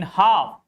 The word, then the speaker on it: half: In half, L is before F.